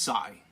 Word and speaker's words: XI: this is the the goal sigh Xie is pronounced sigh now that's Japanese sorry those of you here